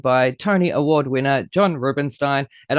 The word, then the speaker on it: Rubinstein: Tony Award winner John Rubinstein, and I am saying that right. Yes, thank you for saying it right. People very often mispronounce it, but no, you got it right.